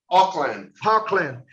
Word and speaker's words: Auckland: como é a pronúncia mesmo, Orlando? Auckland.